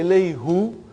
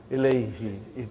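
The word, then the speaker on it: إليه: Now if I say ilayhu, see, look at the way you make your mouth, muscles in your mouth. Ilayhu. It takes extra effort. And even also, it doesn't sound nice to the ear. So, who became now pronounced ilayhi.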